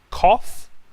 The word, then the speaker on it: cough: Cough, like in offer.